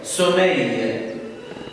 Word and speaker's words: sommeil: Le IL se prononce EI. sommeil.